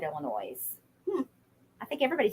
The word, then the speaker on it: Illinois: lot of countries um the S is silent in Illinois it's Illinois Illinois sorry um hi Jackie